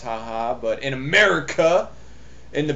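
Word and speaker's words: jaja: ja ja i'm aware that ja jai is pronounced haha but in america in the best country in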